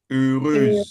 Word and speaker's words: heureuse: The way you are pronouncing it with U double I. U, not it's not U, it's E. Like E and A.